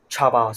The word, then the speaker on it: Chaba: Yeah, so it's pronounced Chaba. So he said, sort of like chubby.